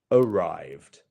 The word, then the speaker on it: arrived: And last but not least here, we have arrived. Arrived. And yeah, our stress is on the second syllable here. So arrived. Arrived. There you go. It's not going to be arrived.